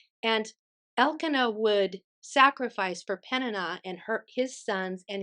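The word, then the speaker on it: Peninnah: had another wife and I believe you n you pronounce her name penina and penina had many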